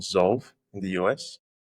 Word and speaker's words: Zolve: there's this startup called Zolve in the US spell it please sorry what's the spelling so z o l v e so like solve but within zed okay okay I got